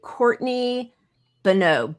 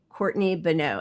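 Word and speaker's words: Courtney Boneau: Courtney Beno. B O N E AU. Courtney Beno.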